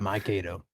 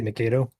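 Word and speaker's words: Mio: You got it. Myo. I kind of I sometimes say mo but locals should know what it means.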